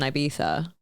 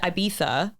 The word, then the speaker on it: Ibiza: And I said Ibiza, and they're like, no, it's Ibiza.